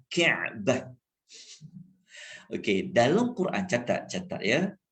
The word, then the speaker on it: Ka'bah: Jadi kalau kita nak sebut betul-betul pronunciation dia, Ain. Ka'bah, Ka'bah.